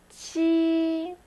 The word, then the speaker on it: 七: And 7, 七, 七, 4, 7.